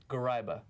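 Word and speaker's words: Gharaibeh: Garaiba. Garaiba, yeah. Yeah, but you want Garaiba.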